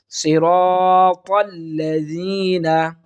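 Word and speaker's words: الذين: এরপর দেখুন প্রিয় শিক্ষার্থী বন্ধুরা, সিরাতাল্লাযীনা, সিরাতাল্লাযীনা, এখানে টানবো এক আলিফ, যেহেতু জবরের বাম পাশে খালি আলিফ এসেছে, এক আলিফ টানবো, সিরাতাল্লাযীনা, লাযীনা, অনেকে আমরা শক্ত করে থাকি সিরাতাল্লাযীনা, এটা সম্পূর্ণটাই ভুল।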